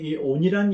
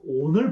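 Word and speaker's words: אָוֶן: 여기에 야곱의 허물을 보지 않는다 했을 때 이 허물이 바로 또 온을 번역한 것입니다. 이 온이라는 단어는 또는 아벤이라고도 발음하기도 하는데요.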